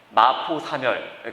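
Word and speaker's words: 마포삼열: 그래서 마포, 세뮤얼 우리나라 발음입니다. 세뮤얼 사멸. 그래서 세뮤얼 마펫, 마포 사멸 그렇게 말합니다.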